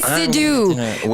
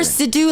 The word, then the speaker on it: Sidhu: Matt Iwanyk, Tom Gazzola, Sidhu, but you can say Sidhu. Remember Sidhu like seducer.